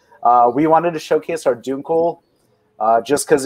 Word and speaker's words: Dunkel: an Austrian German family, you learn how to say things correctly. Exactly. All right, we'll say Dunkel. Yeah, Dunkel is how you say it.